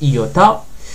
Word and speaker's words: iota: sans le point majuscule c'est le i qu'on connaît mais ça se prononce iota ça c'est cap pas